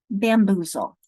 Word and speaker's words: bamboozle: My first syllable is bam, second boo, third zul. I put it together, bamboozle.